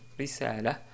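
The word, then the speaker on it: رسالة: On peut prononcer aussi, et d'ailleurs c'est plus correct, quand on s'arrête sur le mot risalaton, on dit risala, risala, car on a une ta marbouta à la fin.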